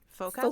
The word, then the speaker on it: forecastle: There is also a very obscure nautical pronunciation of this word, Forecastle.